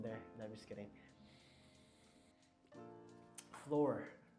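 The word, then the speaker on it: fleur: Like floor, like the flower, floor. Floral. But it's spelled F-L-A-U-R. F-L-A-U-R. You know? Oh, are you saying like a Spanish flower? Like like French or Spanish. Oh, fluor. Floor. There you go. That's floor. F-L-E-U-R, I think.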